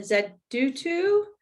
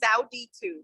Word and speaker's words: Zauditu: Okay, and then Zaudutu. I'm probably mispronouncing that. Do you want to jump on? That's okay. That's okay for the mispronunciation. It's actually Zauditu.